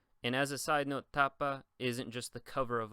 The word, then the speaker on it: tapa: the pen ultimate syllable for example tapa you'll notice the second to last syllable is T and so that's where the stress is I never say tapa I always say tapa same thing if we